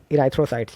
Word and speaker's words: erythrocytes: दोस्तों आरबीसी का एक और नाम है इराइथ्रोसाइट्स, ठीक है। आप स्पेलिंग देख सकते हैं ERYTHROCYTES, इराइथ्रोसाइट्स, ठीक है।